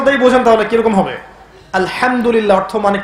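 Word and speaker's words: الحمد لله: আলহামদুলিল্লাহ অর্থ মানে কি? এখানে যে হা আছে, এটা কি বড় হা না ছোট? হুত্তি না হাওয়াস? হায়ে হুত্তি, এটাকে বলে বড় হা। উচ্চারণ কোথা থেকে করতে হয়? মাঝখান থেকে।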